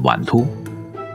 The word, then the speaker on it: 碗脫: popular pasta in Shanxi In their dialect, it is pronounced as "Wantuo" The origin of its